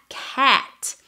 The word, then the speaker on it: hatch: de twist a extremo utilizando la palabra Hatch en inglés cuando se pronuncia la e no es como la a de nosotros y es una vocal que nosotros no tenemos y puedes utilizar el